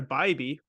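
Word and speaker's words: Bibee: took uh all same game parlay of Tanner baby which is how you pronounce it fun fact there I don't care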